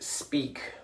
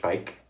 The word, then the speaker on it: Speick: know the branch spike which is German so it's not pronounced speak like we would try to pronounce that in English it's pronounced Pike for the month of